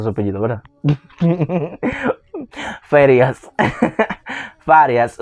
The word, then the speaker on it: Farías: Y así que se pronuncia su apellido, ¿verdad? Farías.